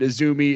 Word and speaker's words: AZM: the dark Starlight kid isumi is spelled azm but it's she's known as isumi all right so let's